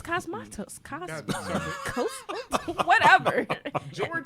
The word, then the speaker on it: Cosmatos: pronounce it. It's Cosmatos.